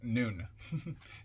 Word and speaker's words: Nun: lives and deaths comment on nun or nun nuu n pronounced noon transcribed as in the